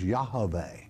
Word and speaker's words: Yahweh: someone tell you otherwise the sacred name is yahweh all right that is the correct pronunciation okay daniel in california